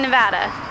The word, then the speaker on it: Nevada: home of the Capitol building at least in Nevada pronouncing the ball get out you are wondering it's